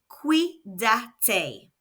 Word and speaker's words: cuídate: which in Spanish is Cuídate. Let's hear it again. Cuídate. Remember that when the C is followed by an A, O or U, it makes a K sound.